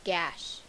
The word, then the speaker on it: gash: Model these same steps with the word card gash. Point to the vowel that follows the letter G. Since it is an A, the G will say the hard G sound. The sound says G, the word is gash.